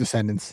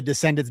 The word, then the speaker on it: Descendents: Descendants, yeah. But and it's spelled incorrectly, which I assume is on purpose.